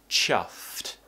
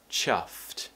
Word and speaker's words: chuffed: course you need to try and pronounce the cluster at the end top teeth on the bottom lip and cut it out with a t sound chuffed chuffed so those are your